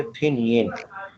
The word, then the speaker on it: Pinyin: वो आपका जो कोर्स है वो फिनियन बेस्ड है। मैंने फिनियन का नाम लफ्ज़ इस्तेमाल किया था, फिनियन, PINYIN, ये लफ्ज़ मैंने बोला था। और इसको बोलेंगे फिनियन।